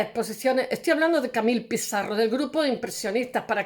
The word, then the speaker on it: Pissarro: Se escribe Pissarro porque en realidad es Pizarro, porque hay un seseo, es un apellido español sefardí.